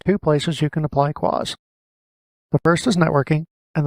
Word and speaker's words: QoS: quality of service settings quality of service is usually abbreviated to qos and often pronounced claws in the 2012 r2 server series there are two places you can apply quas the first is networking